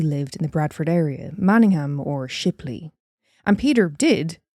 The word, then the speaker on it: Manningham: Am I saying Manningham? Am I pronouncing the ham part too severely? Manningham. It's Manningham. Yeah. Not Manningham.